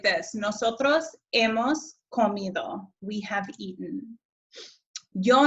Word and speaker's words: hemos: Notice again, and hopefully you know this by now, but that H in Spanish is silent. He, has, ha, hemos, habéis, han.